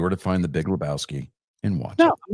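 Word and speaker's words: Lebowski: oh my God the it's pronounced Labowski okay we know which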